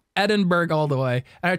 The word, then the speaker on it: Edinburgh: In Glasgow, and I used to pronounce Edinburgh. Oh yeah. I'm like, how do you get Edinburgh from that?